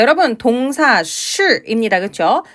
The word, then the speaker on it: 是: 자, 여러분 동사 是 입니다. 그렇죠? 자, 우선은 是 발음하실 때요. 발음 어떻게 하고 계세요? SH 발음이에요. 그렇기 때문에 건설음이죠. 자, 건설음을 발음할 때 SH 발음은 혀 위치만 잘 잡으시면 돼요.